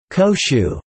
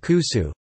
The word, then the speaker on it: 古酒: Koshu. When awamori is aged for 3 years or more, it is called kusu, good old liquor. This pronunciation is unique to awamori in Okinawa.